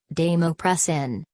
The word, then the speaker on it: desmopressin: baisemeaux pressin nasal pronounced as damu press an important warning these ma press and nasal may